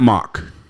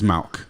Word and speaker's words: Mauch: It's not Mauch. It's not Mauch. Mm-hmm. It's Mauch. Mauch. Yeah, the H is silent. Very German.